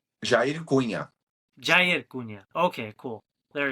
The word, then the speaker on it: Jair Cunha: What is the pronunciation? Jair Cunha.